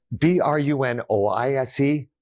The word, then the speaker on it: brunoise: And it's B-R-U-N-O-I-S-E, but it's pronounced brunoise, like B-R-U-N-W-A.